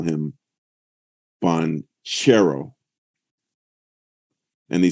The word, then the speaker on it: Banchero: need to call him panchero and they said that the CH is like cherry and he said he